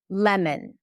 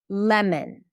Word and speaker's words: lemon: So, you know, instead of thinking of pronouncing it like a different sound, just think of reducing the O al together. Lemon. Lemon, Adam, Adam.